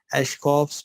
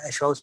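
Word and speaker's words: Aschoff: Eschkoff's bodies. I always keep it saying Eschkoff. It's Eschkoff body, isn't it? But K, it's pronounced like that. It comes naturally with the accent.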